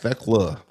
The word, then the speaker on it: Thekla: Yeah, it's Thekla. The H is silent.